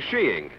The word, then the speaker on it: skiing: and do a little shiing. A little what? Sheeing. Oh, there are other pronunciations, I suppose, but in England and Norway, sheeing is considered most acceptable.